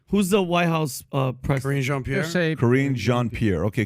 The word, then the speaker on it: Karine Jean-Pierre: Karine Jean-Pierre? Karine Jean-Pierre. Okay, Karine Jean-Pierre.